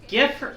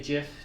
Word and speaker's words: GIF: Is it GIF or GIF? I need to gather intel. Okay. So, you do like the solid G. Gotcha. Yeah, I do the soft G.